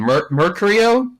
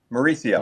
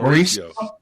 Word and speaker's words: Mauricio: Uh, you know, I always mispronounce his name. Mercurio. Mauricio. Mauricio.